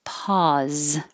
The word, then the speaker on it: pause: And it's the same sound in pause, but now this S sounds like a Z, pause.